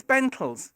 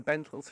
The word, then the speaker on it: Bentalls: It's because it rhymes with mentals. That's the reason. I should say going on. Anyway, so she got him a job at the Bentalls shopping centre as Father Christmas.